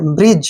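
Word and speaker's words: bridge: जी से बना ज ब्रिज क्या पढ़ेंगे ब्रिज डी नहीं पढ़ना है ब्रिज ब्रिज का मतलब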